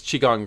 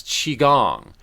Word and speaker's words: Qigong: I received almost immediate help from the acupuncture and tea, but he said, John, far more powerful is Qigong. And it's spelled Qigong.